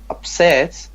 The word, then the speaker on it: upset: And I have a question about the pronunciation of upset. Should I pronounce it upset or upset here? Upset, because it's a verb.